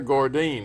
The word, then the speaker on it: Gordine: We have a first-time guest here today, and it's Commander Gordine. Is that right? That's pronounced right.